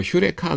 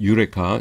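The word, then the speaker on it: eureka: 그다음에 그 아르키메데스의 원리에서 휴레카 그러죠. 어 아 그 경우에는 유레카입니다. 유레카.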